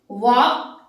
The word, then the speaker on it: walk: अब यहाँ पे देखिए वॉक, वर्ड है हमारा वॉक, इसके साथ में अगर हम वर्ड लें TALK, वॉक, ALK, L is silent, walk and talk, they are rhyming words.